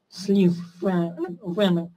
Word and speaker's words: слив: Да, слив и слива тоже не подходят, потому что слив буква В на конце, но звук Ф, слив, опять же, нужно именно проговаривать, строго проговаривать, верно сказали выше.